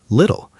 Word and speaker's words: little: Better little. The t in the middle often sounds more like a soft d. Water sounds like waiter. Little sounds like little.